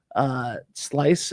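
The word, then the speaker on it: Slyce: Yeah, Gray Sail, Tapped Apple, Slice is the name of it. Okay, I'll have to try a little bit of that. Yeah, that's it's Slice, but it's spelled with a Y.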